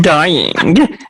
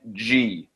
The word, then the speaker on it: Dieng: Gorgui dying. Gorgui dying. So that's not how you pronounce Gorgui Dieng? I believe it is Gorgui Dieng. Yeah. DJ Dieng. It's like I looked it up. It's Jyeng.